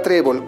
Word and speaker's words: trébol: Tenemos la palabra trébol. ¿Cuántas sílabas tiene la palabra trébol? Trébol. Tenemos dos sílabas. ¿Dónde se encuentra la mayor fuerza de voz? En la penúltima sílaba.